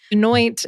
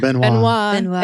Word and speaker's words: Benoit: Anoint is, gross. I don't even want to hear it. Benoit is how it should be pronounced.